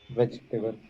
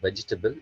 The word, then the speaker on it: vegetable: Vegetable. So when you talk about the pronunciation of vegetable, it's not vegetable, it's vegetable.